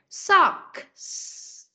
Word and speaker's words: socks: Con lưu ý phát âm âm k này trước rồi mới tới âm s. Socks.